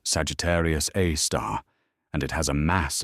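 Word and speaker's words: Sagittarius A*: The asterisk in astronomical naming convention is pronounced star. So, it's Sagittarius, a star, and it has a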